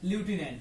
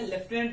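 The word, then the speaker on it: lieutenant: ल्यूटिनेंट की, army में ल्यूटिनेंट की. वैसे आम बोलचाल की भाषा में लेफ्टिनेंट भी कह देते हैं इसे, बट ल्यूटिनेंट इसका करेक्ट प्रोनाउंसिएशन है.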